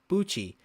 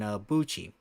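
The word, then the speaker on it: Buchi: But we only get Cororo Sham and Buchcci. So right here which I'm about to show you guys is Buchcci. I know his name rhymes with Gucci.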